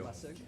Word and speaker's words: Lessig: Lessig, got it. Yep, the A is silent.